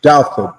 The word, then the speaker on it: Douthat: Doubt it.